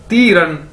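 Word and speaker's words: 敌人: अगर इन दोनों इकट्ठा कर दिया जाए यानी ती रन, ती रन, डी आई यानी ती, आर ई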